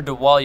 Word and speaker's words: Dawal: Okay, hi, I am Dawal, to the window, the wall, the window, the wall. That's how you can pronounce my name.